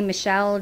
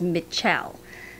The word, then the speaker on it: Mitchelle: children for years and yes i'm saying her name right it doesn't sound right it's how it's spelled i'll put it up on the screen i may go back to say michelle just because it's just what i know but it's mitchell but i want to